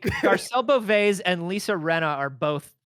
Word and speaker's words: Beauvais: Beauvais.